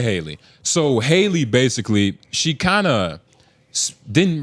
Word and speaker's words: Halle: I'm always about to say Holly Berry. Let's say Oh, Haley. Haley. It's Haley. Haley. It's Haley. Baby. Let's say Haley. So Haley basically, she kind of